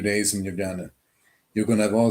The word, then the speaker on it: Ljubljana: every 2 years, the capital of Slovenia is Ljubljana. Did I pronounce that right?